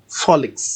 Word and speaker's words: Folix: Folix. Yes, Folix. Though it's spelled so Folix.